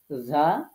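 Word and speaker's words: ز: জিহবার আগা নিচের দাতের আগা হরফ উচ্চারিত হবে তিনটি যা সিন সদ এটা মনে রাখতে হবে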